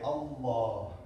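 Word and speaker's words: الله: We don't pronounce the first L, we don't say Al, no, we say Allah.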